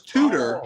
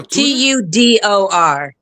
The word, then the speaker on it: Tudor: I thought it was tutor. Like, you know, somebody tutors somebody. Oh, t u d o r. Tudor. She's correct. We just say it like we're from the Yeah, it's not tutor.